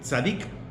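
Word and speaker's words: צדיק: palabra que se utiliza en hebreo sadik pronuncia más o menos sadiq significa el recto justo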